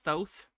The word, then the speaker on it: Thoth: He is saying it wrong, so it is Thoth.